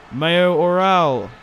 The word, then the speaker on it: Mayoral: Mayoral, that's how you say his name.